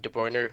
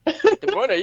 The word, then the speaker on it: De Bruyne: hit the 20 assists only person was Kevin de Bruiner but this that guy's also an animal um